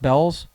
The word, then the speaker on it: Bealls: went to belle's outlet is that how it's pronounced bells yeah not beetles yeah i did it as beals every time i see